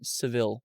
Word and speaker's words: Sevilla: Seville or Sevilla. Seabilla. If you Google how to pronounce it in Spanish.